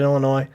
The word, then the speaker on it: Illinois: think the next year don't pronounce the s scotty southern illinois beat ku and then